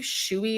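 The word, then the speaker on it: Shoei: that had the word I believe shouey is how you're supposed to pronounce it it's s h oei in Black letters it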